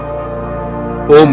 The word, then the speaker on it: ॐ: त्रिदेवों का प्रतीक ओम के तीन अक्षर होते हैं। अ, उ और मन।